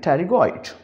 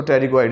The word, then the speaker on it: pterygoid: Pronunciate करने का तरीका अगेन पी को खामोश कर देंगे एंड टेरिगॉइड। सो टेरिगॉइड इज़ a name of bone.